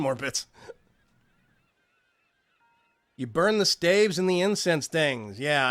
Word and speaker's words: staves: it's not it's pronounced staves it's not pronounced stabies or stavis um I've tried